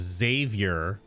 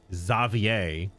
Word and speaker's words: Xavier: The French pronunciation of Xavier, Xavier. Because they get like ERs in French are not ers, they're A's.